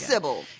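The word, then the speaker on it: Sybell: civil why do I want to call her Cil that's not right I think it is I think that's well that's how he pronounces it in the audio B oh it is Syble you don't know how much to like it's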